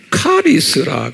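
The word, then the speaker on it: χάρις: 어떤 사람들은 바람을 했니라고도 발음하고 chen 또는 캠이라고 발음하고 그래요 그리고 진약에 은혜하면요 영어로는 우리가 이제 그레이스라고 그러잖아요 그레이스 이것을 카리스라 그래요 카리스 제가 일본에 칠판에 안 써요 칼럼에다가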